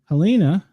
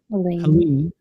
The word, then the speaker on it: Helene: Helena, am I saying it right, or is it Helene? Helene, cat 4, 140 mile an hour winds, 822 miles wide, with a wind field of 370 miles.